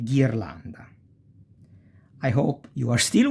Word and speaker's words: ghirlanda: E ghirlanda is a garland. See? Ge and gi. Ge e gi. You pronounce like guest or geese.